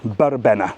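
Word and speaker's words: verbena: There was a party in Yiza called a burbena, spelled with a V. If you see a V in Spain, it's pronounced with a B. Burbena.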